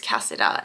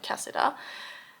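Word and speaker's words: Kasida: I believe you pronounce it like Cassida.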